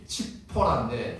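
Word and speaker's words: 칩포라: 뭐 해요 10보라는 이제 원래 원어 발음이 칙포라인데 치포라는 작은 새라는 뜻입니다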